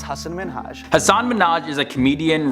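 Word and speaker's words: Hasan Minhaj: blazing a whole new type of trail is hassan minaj everyone that says your name says hassan minaj yeah but the real way you pronounce it it's hassan minhaj hasan minaj is a comedian writer producer actor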